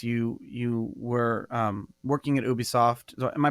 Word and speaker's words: Ubisoft: in the space you you were working at Ubisoft so am i pronouncing that correctly yeah and and you started